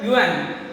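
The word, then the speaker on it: Juan: J is remaining silent here. We should have to be pronounced as a Yuan. Yuan Pacino.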